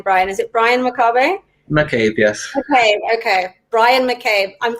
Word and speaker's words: McCabe: I didn't ask you how to pronounce your name, Brian. Is it Brian McCabe? McCabe, yes.